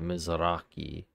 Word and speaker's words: Mizrahi: So that's how you say it, Mizrahi.